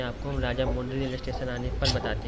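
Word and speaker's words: राजमुंदरी: अब राजा महेंद्र वर्मन के बारे में आपको हम राजा मुंद्री रेलवे स्टेशन आने पर बताते हैं। और फाइनली हम राजा मुंद्री रेलवे स्टेशन पर इंटर कर रहे हैं।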